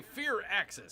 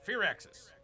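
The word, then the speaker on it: Firaxis: Waiting for Bear to say Fear Axis so I can take a drink. Fear Axis.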